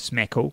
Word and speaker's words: SMCAKL: And Social Media Club Auckland, they've done a hashtag SMCAKL, which they say is smackle with a silent C, obviously.